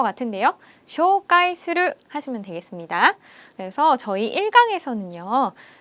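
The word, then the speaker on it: 紹介する: 한국 발음이랑 엄청 비슷하죠? 외우기 쉬우실 것 같은데요. 쇼가이 스르 하시면 되겠습니다.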